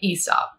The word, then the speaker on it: Aesop: heavy hitters starting with your boy Esau and yes that is technically the correct English pronunciation I will now start calling it a soft because that just sounds wrong a psalm was a